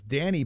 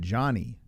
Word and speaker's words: Djani: Or it's Djani Barbir. You said Johnny. Is that maybe that's how you pronounce his name?